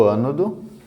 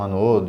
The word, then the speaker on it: ânodo: Que são o ânodo e o cátodo. Há pessoas que falam anodo e cátodo, mas é só a forma de expressar como que se pronuncia, mas ânodo e o cátodo, certo?